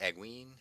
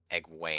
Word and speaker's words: Egwene: So then we have a bunch of chapters with is Egwene?